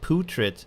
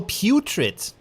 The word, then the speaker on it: putrid: What's the difference between putrid and putrid? Is that the same? How do you say? Oh, putrid. Ah, putrid, not putrid. Not like poo, but like pew.